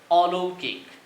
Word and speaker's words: অলৌকিক: ও ধ্বনির ক্ষেত্রে আমরা যদি দেখি, এই শব্দটি নিচ্ছি অলৌকিক। এই শব্দেও উচ্চারণটি হবে এরকম অ লো কিক, অর্থাৎ ঔকারের জন্য এখানে অধ্বনির স্বাভাবিক উচ্চারণ বজায় থাকবে।